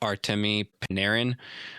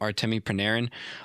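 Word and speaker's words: Artemi Panarin: they were playing extremely good hockey and it also helps that they got Artame Paneran. I think that's how you say his name. Artame Paneran.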